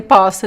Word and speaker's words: poço: are very similar words, but poço, the well, poço is pronounced with the closed O, po, poço, poço. And the verb I can, in this case I cannot, não posso, it is open, the open O, posso, posso, poço, posso.